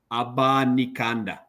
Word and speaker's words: Abanikanda: His name is Abanikanda.